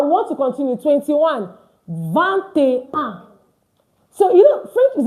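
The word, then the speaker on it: vingt: Don't forget it's van, not v. It's va because I N I beg you get this thing and you start pronouncing French words like a pro. I N is pronounced as a.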